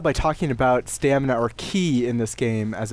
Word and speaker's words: ki: Ki so or chi? Is it like a similar? It's Ki. Oh, okay. So I think it's ki, using the Japanese pronunciation.